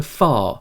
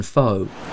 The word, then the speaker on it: pho: as i see them i think the correct pronunciation of pho in this instance should be closer to far than foe so i've never been